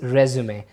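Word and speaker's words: résumé: तो you call this रेज्यूमे। आप इसे रेज्यूमे प्रोनाउंस करते हैं। इसकी फिर प्रोनाउंसिएशन रिज्यूम नहीं रह जाती है, वो बदल जाती है, आप इसे रेज्यूमे बोलेंगे।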